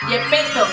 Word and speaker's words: Zepeto: Es muy extraño, pero Zipiro, o sea, si tú lo lees en coreano, yo sé que muchos de ustedes saben leer coreano, de verdad se pronuncia Yepeto. Yepeto, como el de Pinocho.